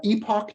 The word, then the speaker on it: epoch: This is epoch time or epoch time, okay, or epic time, depending on how you pronounce it.